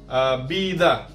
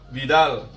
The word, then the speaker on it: vida: Itu disebutnya dalam bahasa Spanyol UV, ya, mirip-mirip B dia. Nah, contohnya ada vida, artinya hidup, atau nama orang Vidal, Arturo Vidal, ya, Vidal.